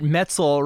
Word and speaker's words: Metzl: first person to think that Metzel rhymes with pretzel.